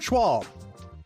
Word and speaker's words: Schwalb: this is great good today's guest is Robert schwall did I pronounce that right Robert you sure did good